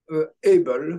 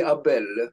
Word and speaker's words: Abel: Able, yes. The Abel Prize. In French, it would be Abel, but About, yeah.